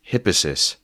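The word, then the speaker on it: Hippasus: thought you might want to know it's actually pronounced hippis so carry on your life with that bit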